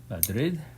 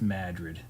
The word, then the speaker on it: Madrid: Capital Spain is Madrid. In Maine, it's just Madrid.